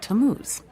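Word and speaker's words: Tammuz: what t a m m u z it's pronounced tamuz maybe if you show him your evidence he'll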